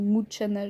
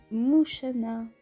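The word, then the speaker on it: Mushana: Mouchana ou Mouchana, je ne sais pas comment ça se prononce. Mais... je dirais que c'est Mouchana parce que quand on dit Ocha, enfin ce qui est C-H-A, Ocha, en japonais, et ça veut dire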